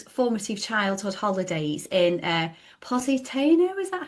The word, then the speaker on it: Positano: Um so if we go back to um those formative childhood holidays in uh Positano, is that how you pronounce it? Yeah. Positano.